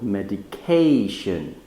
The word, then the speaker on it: medication: loudly so for example medication right so the stress is in the third syllable in the K but if I say